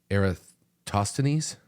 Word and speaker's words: Eratosthenes: And I'm going to say this guy's name wrong. Yeah. He's a Greek mathematician, but it's Eratosthenes.